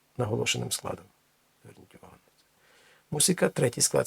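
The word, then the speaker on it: música: Зверніть увагу, немає звука з, не музика, мусика. І наголос падає на третій склад з кінця.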